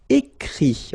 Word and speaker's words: écrit: Écrire to write, so I-R-E will give it, écrit, okay? Remember that even if you've got this final T, you don't pronounce it, so it goes like écrit, okay?